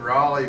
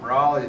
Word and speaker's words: Raleigh: kind of rooted here in Raleigh because Pat's grandmother, for example, went to Emeritus